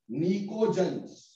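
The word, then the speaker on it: pnictogens: नाइट्रोजन family को हम एक और नाम देते हैं निकोजन्स, निकोजन्स, इसमें पी साइलेंट है।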